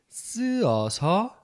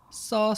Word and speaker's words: 써서: Então, em vez de ficar 쓰어서, como é que fica? 써서. Só, ok? Só isso. só, ok? Então, o U desaparece. 쓰어서, não. só.